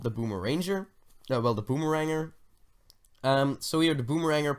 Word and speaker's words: Boomeranger: Well, the Boomeranger. So here the Boomeranger, pronounced Boom-eranger.